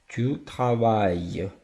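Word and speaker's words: travaille: дві L да Іль якщо воно стоїть після голосної в цьому випадку у нас голосна а то якщо оце от Іль стоїть після голосної Воно читається як й траває Отже відмінюємо це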